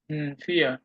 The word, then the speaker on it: vier: পিয়া, ফিয়ার, কারণ এই ভি এর উচ্চারণ কিন্তু আমরা করছি ফাও, মনে আছে অ্যালফাবেটে? হ্যাঁ, পাও, ফাও, পাও, তাহলে উচ্চারণ হবে এফ এর মতো, পিয়া।